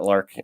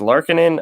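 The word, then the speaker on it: Lankinen: pull up his name i think it's not lark it's larkin i believe is how you say his name um but the guy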